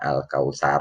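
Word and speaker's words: الكوثر: di sini merah maksudnya al-kautsar bebek sampai ini meskipun boleh dibacanya al-kauthar Oh tetapi sinyal waktu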